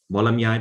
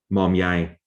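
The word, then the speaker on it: Mawlamyine: So Mandalay becomes Manly, Molamyai becomes Momyai.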